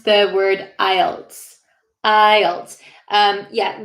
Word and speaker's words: IELTS: pronounce the word ielts ielts um yeah the l is pronounced i'll ielts it's kind of hard to hear the l but yeah oh uh